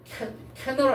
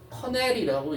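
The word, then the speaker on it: canal: 캐널 아니에요? 어 커넬이라고 읽어요.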